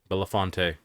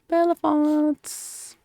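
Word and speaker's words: Belafonte: I can't say the last name after you spell it out it's a b-e-l-a-f-o-n-t-e villafonte Bellefonte Henry let's see the lyrics a hole in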